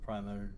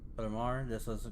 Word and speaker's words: primer: No hago promesas con el primer juego. No haces promesas con él. Yeah, con el primer juego. With the primal? With the qué? Primer. Primar? Primar. That's how you say it.